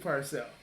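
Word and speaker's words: Purcell: Yeah, Steve Parcell.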